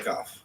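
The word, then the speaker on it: כף: I need to hear that pronunciation For the cough. for the kaf and the chet.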